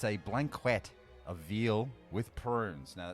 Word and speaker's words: blanquette: It's a blanquette of veal with prunes. Now, it's pronounced like this. Blanket. Pigs in blankets.